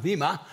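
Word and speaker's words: bema: But as Pastor David alluded to in his closing comments, we, the believers, stand before the Vima or Bima seat of Christ. It's B-E-M-A, but it's pronounced Vima.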